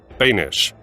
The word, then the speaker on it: Boenish: their lives he said Bish whose name rhymes with Danish is a Fearless friendly